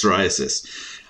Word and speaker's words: psoriasis: said psoriasis yes and the answer is psoriasis I tried to stump you with the p the p word silent p uh okay uh question